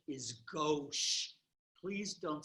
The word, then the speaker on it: gauche: means to the left right and the proper pronunciation is gauche please don't say gautsche especially not when I'm around okay so substituent